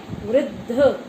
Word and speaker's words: वृद्ध: रही है वृद्ध मछली वृद्ध कैसे लिखते हैं देखो वा में री की मात्रा और आधा धा धनुष का और द वृद्ध उसका सही उच्चारण है वृद्ध और जो वृद्ध होते